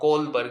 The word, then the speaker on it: Kohlberg: Now, Kohlberg, in Kohlberg, H is silent.